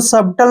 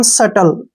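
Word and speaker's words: subtle: ई ठीक है ना इसको सबटल नहीं पढ़ेंगे टी से पहले बी आया है तो बी का साइलेंट रखेंगे इसको पढ़ेंगे हम सटल क्या पढ़ेंगे सटल ठीक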